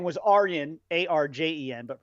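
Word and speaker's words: Arjen: to say is diplomatic immunity his name was aryan a-r-j-e-n but pronounced aryan rudd he was an older kind of you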